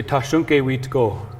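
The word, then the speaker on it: Tȟašúŋke Witkó: So in our language, we say Tashunke Witko. Tashunke Wiko.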